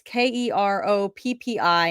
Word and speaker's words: Keroppi: And Keroppi, I think is how you say it. It's Keroppi, and we've seen this one before.